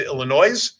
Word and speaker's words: Illinois: congratulations that person in Illinois the S is silent by the way Michigan